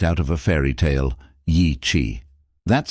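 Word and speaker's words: Yi qi: Yi, that's spelled Y IQI and it means strange wing in Mandarin.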